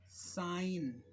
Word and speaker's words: sign: जी साइलेंट कहाँ कहाँ सकता है, जैसे ये रिजाइन, आप रिजाइन दे रहे हो, साइन, इन सब में जी साइलेंट है।